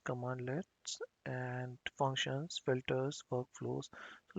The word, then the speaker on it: cmdlet: includes cmd let's that these are pronounced as commandlets and functions filters workflows